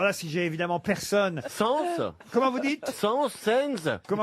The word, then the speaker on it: Sainz: Sens. Comment vous dites? Sens. Comment vous... Alberto. Sens. Oh, bah, enfin, prononcez-le bien. Oui, moi. c'est à l'espagnol, hein, ça que je le prononce moi.